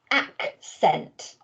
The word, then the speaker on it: accent: to write this word the next word is accent and again you'll notice i split that word up into two syllables ack sent so use what you've